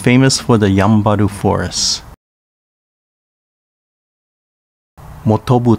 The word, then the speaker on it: Motobu: higashi pronounced fijaci in uchinanguchi and is famous for the yambaru forest motobu town pronounced mutubu in uchnanguchi motobu is known for